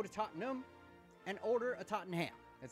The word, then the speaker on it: Tottenham: As a fat American, why would you not emphasize the ham? I would like to go to Tottenham and order a Tottenham.